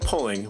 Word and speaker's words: Poling: On this episode, we are joined by Pulling, which rhymes with bowling, who is a senior technical consultant for Excelon Development based out of Grand Rapids, Michigan. Pulling, thanks for joining us on Maintainable.